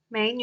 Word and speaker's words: 美女: first and then up the pitch of the third tone slightly goes down and then goes up let‘s try the pronunciation of the third tone 美女 beautiful woman these two